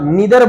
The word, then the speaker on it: neither: noun that represents neither, neither इसकी दो pronunciation होती है, आप neither बोलिए या आप neither बोलिए, दोनों का दोनों सही चलता है इसमें।